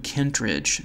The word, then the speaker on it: Kentridge: in drawing, is William Kentridge. So if you don't know who he is, you might want to look him up. And it's spelled just like it sounds, William, and last name Kent, Kentridge, K-E-N-T-R-I-D-G-E.